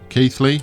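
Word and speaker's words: Keighley: Yarmouth we can do keithly keithly right yeah I pronounced it right this time we can do Bogut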